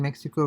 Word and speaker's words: México: So in Mexico would mean in Mexico, but I think Mexico in Spanish is pronounced as Mexico.